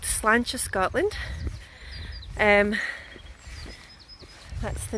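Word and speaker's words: Slàinte: So we're called Slancha, Scotland. That's the name of our company. So Slange, which means cheers in Gaelic, and I'll just spell that for you guys.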